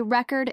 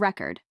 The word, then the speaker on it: record: For example, the word record has 2 syllables, but many learners place the stress on the wrong syllable. They say record instead of record.